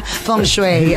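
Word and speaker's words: feng shui: sa buong Pilipinas na nagsasabi ng tamang pronunciation na Fong shue Okay o naniniwala ka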